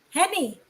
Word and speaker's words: Henny: say this henis H who Henny oh Henny so I said it right first okay like a PNY H Henny is